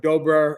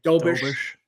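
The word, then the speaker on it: Dobeš: They've got the young guy, Jakob Dobra, or I butchered his name, Dobish.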